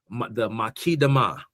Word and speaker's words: Muqaddimah: His most famous book, he wrote a book called the Makidama. It's spelled Muqaddimah.